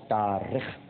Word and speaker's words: تارخ: طارق نہیں، تارخ. اس کا ایک تلفظ تارخ بھی ہے لیکن جو البدایہ والنہایہ میں علامہ ابن کثیر نے لکھا ہے وہ تارخ ہے.